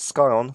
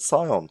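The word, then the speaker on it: scion: we have here is not score on but Sion s cion exactly what does that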